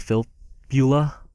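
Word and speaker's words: Filppula: he goes for 1K and we have valtteri Phil Beulah that's how you pronounce his name yeah uh he's he's so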